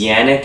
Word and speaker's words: Janek: His character's name is Yannick, if I'm not mistaken, though it's spelled Janek.